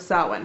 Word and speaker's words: Samhain: the Celtic tradition of salad yeah I know it looks like Samhain but just like every language it has words that are pronounced that white just because you that's